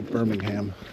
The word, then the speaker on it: Birmingham: Nobody says that. Well, Americans say Birmingham. Not British. It's how Forrest Gump would say it.